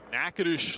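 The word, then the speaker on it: Natchitoches: State in Louisiana and Naish Louisiana that is correct probably one of the most mispronounced College city names you'll ever see because the spelling is nothing like the pronunciation no but it is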